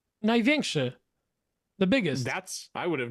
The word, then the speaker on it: Największy: Najweski?